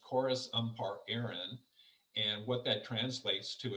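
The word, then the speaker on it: Córas Iompair Éireann: it's actually an irish gaelic acronym and it's pronounced chorus um part aaron and what that translates to is irish transport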